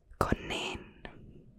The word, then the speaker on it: konijn: So what's this pronounced? Konijn.